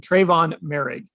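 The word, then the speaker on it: Tre'von Moehrig: position they target here i should probably say his name right in case they do take him trayvon marig is how you say it but yeah you know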